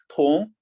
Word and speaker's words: 同: Okay, the Chinese means 同. Now everyone, you must know the how to read pinyin. T, right? Top. On, ong pronounce on going up. 同.